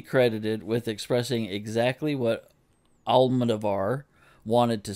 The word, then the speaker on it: Almodóvar: Almodóvar. Almodóvar. Though I usually take pleasure in Almodóvar's sexy darkness, this film induces queasiness. This film must be credited with expressing exactly what Almodóvar wanted to say, but I am not sure